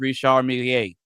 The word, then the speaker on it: Richard: But what's funny about that is that most people aren't even saying that, right? It's pronounced Rishiier.